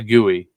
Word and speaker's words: GUI: button that's called a graphic that's a a gooey it's it's the official pronunciation we'll explain in further detail to normies